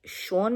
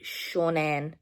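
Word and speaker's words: Seanan: I think last update little section I said it was by Shaun Maguire, but it's actually Shaunan Maguire.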